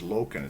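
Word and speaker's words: Lokken: have norwegian lineage so my last name is loken it's spelled l-o-k-k-e-n so somebody will you know you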